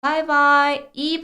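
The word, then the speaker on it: 拜拜: 많이 써요 그래서 우리 바이바이이 발음을 고대로 범 떴어요 그래서 중국어로는 바이라고 표현을 하겠고 하지만 이거는 바이라고 읽지 않습니다 그냥 영어에 바이 바이라는 소리로 읽어 주시면 되는 거예요 한자도 이 바이는 저라는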